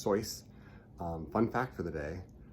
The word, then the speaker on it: Seuss: Seuss his real name is pronounced toys fun fact for the day and I we just finished up dr.